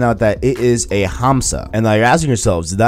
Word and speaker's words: hamsa: up that word day make sure that the H was pronounced other than silent like not in Spanish yes I did I did I did look up the word hamsa to make sure I'm pronouncing it right you're welcome but beside